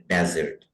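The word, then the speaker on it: dessert: और एक लफ्ज होता है डबल एस के साथ, सही है, उसको भी हम डिजर्ट पढ़ते हैं और उसका मतलब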